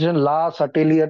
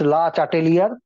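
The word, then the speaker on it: Le Chatelier: last Iyer principal लिखेंगे ला इट इस French pronounce ला अटलियर principal some people use टू से इटस ला टेलियर ब इट इज लास्ट टेलियर प्रिंसिपल य नो ला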